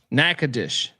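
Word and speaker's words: Nacogdoches: it I uh yeah Jerry Davis says it's pronounced nagad dis nackadish really is it what's that that's on them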